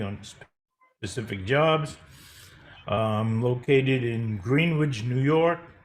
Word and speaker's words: Greenwich: Located in Greenwich, New York. Not Greenwich, but it's spelled like Greenwich, but it's Greenwich.